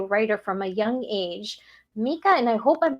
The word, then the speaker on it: Micah: Did we say it right? I am so sorry. Nope, he said Micah.